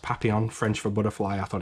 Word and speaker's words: Papillon: watched this together and he always called it Papillion which I which when I found out it was actually pronounced Papillon French for butterfly I thought it was hilarious